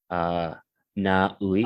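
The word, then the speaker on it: Na Uy: Naui.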